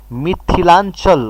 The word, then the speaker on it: Mithilanchal: Okay, where there's the correct word, I mispronounced the word. There is correct word for that. Mithilanchal. Okay, Anchal. So Mithilanchal.